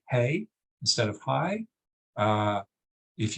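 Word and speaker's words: hej: some Scandinavian countries because that's the word for highs hey except except it's spelled h-e-j and of course if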